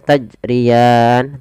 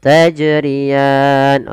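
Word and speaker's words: تجريان: Ada beberapa kesalahan di dalam membaca qalqalah. Salah satunya yaitu dia tidak mantul. Tidak mantul itu kesalahan, misalnya tajriyan tidak mantul. Yang kedua menambah hamzah, salahnya yaitu tajriyan. Nah, ini salah juga. Bagaimana betul tajriyan?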